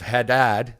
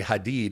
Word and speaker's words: Haddad: If people pronounce it instead of Haddad, they say Hadid, which in Arabic means steel.